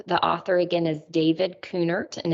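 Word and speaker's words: Kuhnert: journey through the book servant leadership by David coonert if you're just joining us for the first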